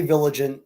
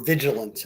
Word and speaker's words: vigilant: we uh wrap up today well just stay vilant you know or Vigilant I should say the the right right pronunciation would be be vilant be suspicious I